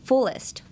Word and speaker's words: fullest: Fullest, list. Imagine you are jumping off of the back of your teeth.